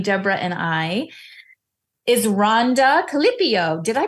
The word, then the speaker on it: Keliipio: And today, joining Debra and I is Rhonda Keliipio. Did I pronounce your name correctly? You did, yes. It's really like I want to know what the Hawaiian pronunciation is. Sure. The Hawaiian pronunciation is Keliipio. Keliipio.